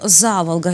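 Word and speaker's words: Заволга: нет нигде в мире горожане нежно прозвали его за волга именно так с ударением на первый слог это больше чем просто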